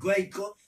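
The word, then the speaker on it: Waco: en una ciudad que se llamaban guarco se pronuncia way co y allí en ese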